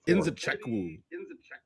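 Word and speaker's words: Nzechukwu: How do you pronounce the name? We should we should have talked. Kennedy Enzachu. Enzeku.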